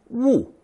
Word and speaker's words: 勿: This character, pronounced fourth tone 勿, often appears on signage, prohibiting some action or activity.